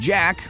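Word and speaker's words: Djaq: The 2006 BBC series includes Saracen character named Jack, that's spelled D-J-A-Q, who turns out to be a woman disguised as a boy enslaved during the Crusades.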